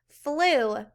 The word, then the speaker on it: flew: This one you can tap out if you can remember the EW sound. All right, flu.